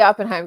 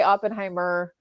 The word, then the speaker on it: Oppenheim: no so it's the oppenheim group but it's okay how do you say again oppenheim oppenheim sorry everyone say it's okay people say Oppenheimer too and I'm just like there's there's no ER yeah and they're like